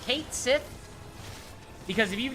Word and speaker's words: Cait Sith: It's supposed to be Ket Shi.